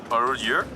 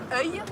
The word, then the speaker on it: œil: This one is very tricky. Arreux. Close. Yeah. It's œil. Œil.